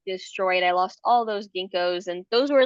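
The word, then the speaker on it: ginkgo: Somebody told me a long time ago, ginko rhymes with stinko.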